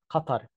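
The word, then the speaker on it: قطر: The original sound is Qatar. Q. The closest sound to this is the English word cut. So try to say cut, cut, cut, and you will be very close to pronouncing this word correctly.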